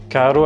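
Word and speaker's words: caro: Carro avec un seul R signifie cher et carro avec deux R signifie voiture.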